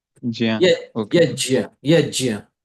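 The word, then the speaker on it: यज्ञ: Why put a j there if you are not going to pronounce it?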